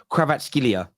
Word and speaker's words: Kvaratskhelia: I think he pronounced I think his name is pronounced something like kraat skilia I think that's how it's pronounced something like that there